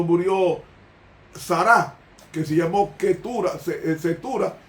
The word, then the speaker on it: Keturah: Entonces, para ese hijo único, y luego él tuvo 4 hijos más cuando murió Sara, que se llamó Ketura, que se pronuncia en hebreo Keturah, que tuvo los últimos 4 hijos.